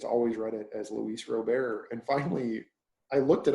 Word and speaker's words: Robert: It is Luis Robert. It's not Robert.